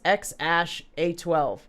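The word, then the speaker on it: X Æ A-12: joe rogan experience broadcast the x is pronounced like the letter x x pronounced ash and a12 my contribution is said how it appears thus x ash a12 i'm really confused you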